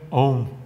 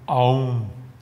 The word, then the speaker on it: Aum: estão presentes no mantra om ou Aum A maneira de geralmente escreve ou M mas a pronúncia completa desse mantra é como se tivesse a u&m onde cada uma dessas